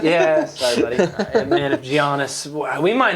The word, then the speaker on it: Giannis: take everybody out if Giannis. I don't know. It's going to be bad. See the G is silent. It's Giannis. Giannis.